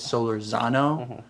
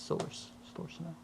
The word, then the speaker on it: Solorzano: mean okay okay so the white version of saying it is solarzano because it has a z in it so but it's silver's now and you pronounce it